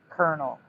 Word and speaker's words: colonel: You mean colonel. Colonel, not colonial.